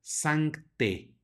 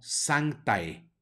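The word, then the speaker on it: sanctae: salvo en algunas excepciones cuando vemos en el latín a seguida de e la pronunciamos como e la a no suena de manera que esta palabra se pronuncia santé no santae sino sangre muy bien vayan recordando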